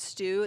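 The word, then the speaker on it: Steu: making me laugh it's funny he said Thomas stew that's just because the announcers here in America pronounce it Stu and actually it's pronounced Joy so I just appreciate his humor and also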